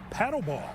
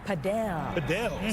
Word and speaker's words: Padel: Our Gabriella Primus is live at a brand new facility where everyone is hooked on this new trend called paddleball. Padel.